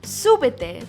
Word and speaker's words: súbete: Súbete. This means get in or climb up. Súbete. I want you to stress that first syllable.